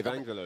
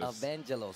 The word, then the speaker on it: Evaangelos: Evaangelos. Evaangelos.